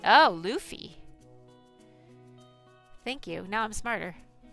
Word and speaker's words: Luffy: It's pronounced Luffy. Oh, Luffy.